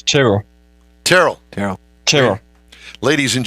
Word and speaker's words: Tyrrell: even intro him we're going to get the pronunciation right is it Terell or is it Terell it's it's Terell Terell Terell Terell ladies and gentlemen from are